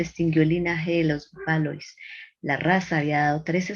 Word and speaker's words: Valois: Esto se pronuncia en francés Valois.